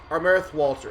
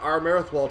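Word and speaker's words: Armathwaite: Armerthwalt or something like that is what I believe I was told. Armerthwalt. I believe what I've been told is that Armerthwalt is the correct way to say that.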